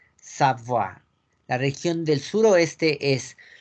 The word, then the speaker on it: Savoie: Una O con una I latina junta se pronuncia como una A. Y la E no se pronuncia, recuerden. Entonces es Savoie. Savoie.